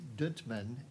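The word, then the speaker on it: Dunteman: The contact person for this at the high school is Deb, and I believe the pronunciation is Duntman, D-U-N-T-E-M-A-N.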